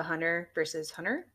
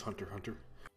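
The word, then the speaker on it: Hunter × Hunter: i just got into hunter versus hunter or hunter x hunter oh so good you know the x is not even pronounced it's just hunter hunter oh i don't know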